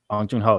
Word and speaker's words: Bong Joon-ho: Bong Joon-ho.